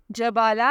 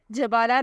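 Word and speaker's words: Jabala: मानी है आली कदर the next name is जबाला spelling है जे ए बी ए एल ए जबाला नाम के मानी है बड़ी कदो कामत वाली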